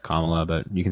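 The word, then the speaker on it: Kamala: VP Harris that's fine it's also just not that hard to pronounce her name it's just comma but you can say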